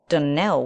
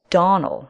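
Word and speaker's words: Donnell: as not as for that denell woman she'll get no delling from me I can assure you the name is Donal and always has been the woman is crazy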